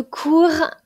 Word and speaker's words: cours: mot court apprentissage pensez bien que le s est muet donc là on avons parlé de cours euh cours apprentissage donc